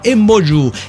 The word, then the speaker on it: emboyú: En otomí se le dice emboyú. Se pronuncia así, pero se escribe embo, emboyú.